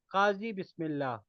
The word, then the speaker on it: Kazi: my name is Kazi it is pronunciated as Kazi I am from s